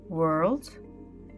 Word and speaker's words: world: create he told her think of the sound her at the end that's the sound you need without the H to pronounce world and work her world and work